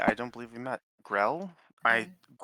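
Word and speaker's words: Grell: Grill. I grill.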